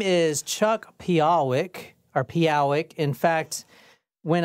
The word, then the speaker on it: Pehowic: So your last name is pronounced Pehowic, right? No, it's Pehowic.